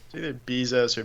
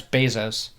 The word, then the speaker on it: Bezos: how are you supposed to say his name bezoar Bezos Bezos yeah it's Bezos oh that guy's just practicing karate but that